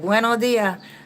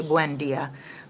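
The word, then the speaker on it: buen día: You said bueno dia, like how they say it here. Well, they say buen dia, but you got it good there.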